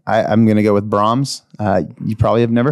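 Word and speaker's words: Braum's: it uh b-r-a-u-m-s b-r-a-u why is that not Brahm Brom is that just an accent probably I've always said Brahms Brahms yeah Rams that's how we'd say in Michigan Brahms it's from go to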